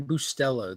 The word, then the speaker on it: Bustelo: Cafe Bustelo. That's it. Bustelo. Cafe Bustero.